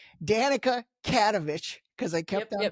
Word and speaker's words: Katovich: into my spiel, I'm going to say Danica Katovich because I kept on pronouncing your last last name wrong. Cats like a like a cat, I guess. Danica Katovich.